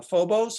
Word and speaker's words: Phobos: time bring up your um piece called uh Phobos is that am I pronouncing it correctly yes so if you could